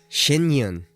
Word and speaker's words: Shen Yun: Shinyun is what it's called. I've been saying it wrong.